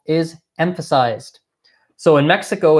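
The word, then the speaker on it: México: you Mexico as well it's spelled basically the same ways in English but it's pronounced quite differently okay so it's Mexico Mexico Mexico I'll point out I'll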